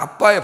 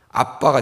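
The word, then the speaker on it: Abba: 그 이스라엘의 모국어로 그대로 하면은, 아람어로 하면 그냥 아빠의 발음이 똑같아요. 우리랑 이상하게 똑같아요.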